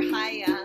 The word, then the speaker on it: Chaia: Bye, Teacher Chaia. And my name, it rhymes with papaya.